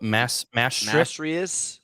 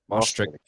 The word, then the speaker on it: Maastricht: So on January 21st, I'm going to pronounce this wrong, but Maastricht. Maastricht.